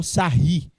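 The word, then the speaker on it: Sarrus: 3 pelo processo do sarros ou sarri porque o cara é francês essa ri a pronúncia do cara aí ó você entendeu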